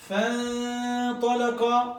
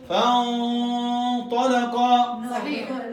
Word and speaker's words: فَانْطَلَقَ: for example first one I tell you two pronunciation. You tell me which one right, which one wrong. So first one, فَانْطَلَقَ wrong. Wrong. Okay, again. Why wrong? Say where. فَانْطَلَقَ okay. فَانْطَلَقَ right.